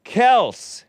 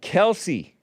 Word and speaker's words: Kelce: important this is important it's Kel it's not Kelsey it is Kelsey only because everybody was calling it Kelsey but originally it was Kel hat tip to big